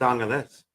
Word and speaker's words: Angeles: It's Angeles.